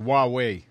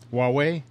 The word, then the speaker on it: Huawei: a problem yeah oh Andrew is saying it's pronounced Huawei Huawei wow we thanks Andrew so I purchased a